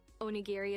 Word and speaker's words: onigiri: save point in our digital adventure for tonight onigiri is the way to go unless you're trying